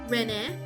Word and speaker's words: Ren: All of their systems and technological advancements are hijacked by none other than Emperor Crimson's rats named Ren. Um, I pronounce it Renee Cavlov.